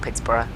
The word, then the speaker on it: Pittsburgh: Not Pittsburgh. Pittsburgh. It's Pittsburgh with a silent H at the end, isn't it?